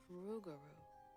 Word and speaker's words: Rougarou: Rougarou. Huh. Rogaru.